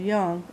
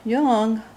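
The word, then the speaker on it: Jung: mbti we know is called young and I want to pronounce it Southern in not the correct way so I do know the difference um but I believe Carl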